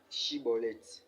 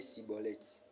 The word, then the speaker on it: Schibboleth: Il lui disait "Alors, et bien dit chibolet" et il disait cibolette. Car il ne pouvait pas bien prononcer sur quoi les hommes